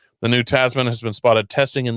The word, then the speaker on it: Tasman: Is it Tasman? Yeah, because my brain keeps saying Tasmanian because that makes sense as an American, and it's an Australian, but Tasman. Upcoming Tasman pickup truck.